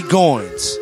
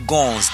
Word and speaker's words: Goynz: Goins. Yes. Let them know where you from and what is your history right quick. My name is period G period. Goins.